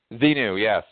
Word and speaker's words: Xenu: Of course, he has written a book, which is, of course, Scientology, Aid to, is it Xenu? Is that how you pronounce that? Xenu, yes, A to Xenu.